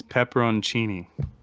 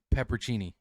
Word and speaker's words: pepperoncini: no say it slower it's pepperoncini I've never in my life heard it called that it's a yellow pepper like a banana pepper or a wax pepperoncini it's a pepperoni cheese look how it's spelled there's no way yeah Google it always called it peppercini yeah it's not a pepperoni hold on I gotta